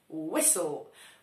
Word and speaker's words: whistle: Whistle. Whistle to gwizdać. Whistle to też gwizdek. Nie ma w nim T.